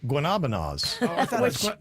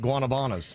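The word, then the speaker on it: guanábana: But I think the odd thing is true flirtians don't know how to say guanabanas because it's not actually said guanabana. It's guanabonas. But all the locals mispronounce it guanabanas.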